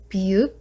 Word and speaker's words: 비읍: Next one is 비읍, it makes sound like B, but not V.